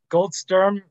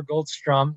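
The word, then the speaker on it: Goldsturm: you mentioned gold star goldstrum yes gold storm is uh or goldstrum depending on how you pronounce it is is a very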